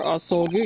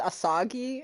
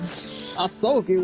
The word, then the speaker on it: Asogi: Prosecutor Asogi, your opening statement, if you please. I've heard somebody pronounce it Asagi, and I was like... Asagi? Ugh! This man's soggy!